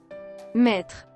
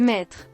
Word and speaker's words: Maître: Maître. Maître? What? Do you not even say that? Oh, it's master in French. Maître. Maître.